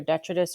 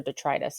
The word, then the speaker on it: detritus: Now, what's interesting is we also have this thing called, you'll hear it's pronounced two ways. It's either detritus or detritus. It depends on potato, how you want to say it.